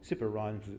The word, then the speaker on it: CIFR: As I said yesterday, I think, well, CIPR rhymes with super, so maybe people can make up some nice little ditties about CIPR and super and something.